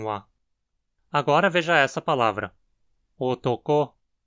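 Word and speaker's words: おとこ: Otoko. O acento está na mora final, ko, que precisa ter uma frequência alta. A primeira sílaba vai ter uma frequência baixa e a segunda vai ter ela alta também.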